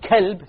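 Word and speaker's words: كلب: From, if you change it to a kaf, you become from a heart to a dog, right? Qalb means what? Heart. And kalb means dog. So if you mispronounce these letters, you're going to change the entire meaning.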